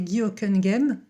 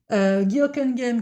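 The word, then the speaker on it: Hocquenghem: Le premier dont je veux vous parler, c'est Guoken Game. Je le prononce bien cette fois-ci, contrairement à ma dernière vidéo. Guokenem qui était un philosophe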